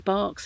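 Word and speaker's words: Bach: And Dr. Bark's Flower Remedies, or Batch, however you like to pronounce it, he uses it.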